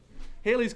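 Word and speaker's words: Halley's: like planets do hayley's comet that looks like hallies it's hailey's pronounced haley's comet orbits the sun every 76 years now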